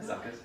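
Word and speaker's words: Zuckuss: Zuckus, yeah.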